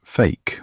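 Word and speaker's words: PHEIC: This is a mouthful, so they call it a PH EIC, pronounced fake or f.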